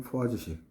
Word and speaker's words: Poiseuille: 원래 우리가 패닝식하고 하겐 포화지식 또는 뭐 하계 포위제 올레쉽 독일식 발음해도 되는데 포화지가 프랑스 사람이니까 하겐 포화지식으로 할게요 사람 이름 그렇게 이름상